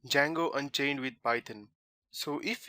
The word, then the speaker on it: Django: first thing is that django is spelled as dg a ngo because some people are there out there who just think that django means j-a-n-g-o which is obviously wrong so today's tutorial would